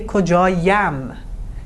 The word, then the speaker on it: کجایم: Two vowels next to each other is hard to pronounce, so we put a euphonic "ی" here. This intervenes here. Now we say "کجایم".